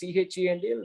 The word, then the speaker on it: Chendil: Is there any numerology in Chendil, Chendil? No, I asked him. He said, this is the way this has to be pronounced.